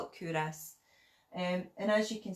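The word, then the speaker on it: Culross: it looks like cool Ross but it's actually pronounced kudos and and it apparently comes from an old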